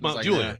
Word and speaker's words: Mount Juliet: But it's Mount Juliet.